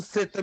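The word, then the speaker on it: θῆτα: é um kinder apertadinho não é th ainda que eu diga que é tudo mas a melhor pronúncia seria a palavra think em inglês a próxima letra é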